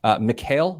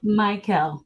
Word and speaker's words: Mikhail: Mikhail, am I saying that right? Michael. Michael.